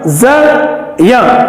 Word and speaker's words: ज्ञ: हालांकि हम हिंदी में इसका उच्चारण प्रचलन से ज्ञा करते हैं, परंतु संस्कृत के दृष्टिकोण से इसका उच्चारण ज्या होता है, क्योंकि इसमें ज और या की ध्वनि है।